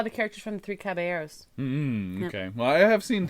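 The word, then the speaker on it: Caballeros: characters from the three caberos okay well I have seen three cab three caberos caberos There You Go caberos Spanish you don't pronounce the L's nope okay okay well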